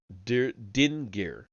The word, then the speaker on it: Dingir: The term was a 2-syllable word, Dingir.